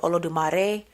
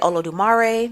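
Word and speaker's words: Olodumare: the name will vary like for example I think in Santia they may say olo de marare just because you know Spanish I say olo dumare because you know country so it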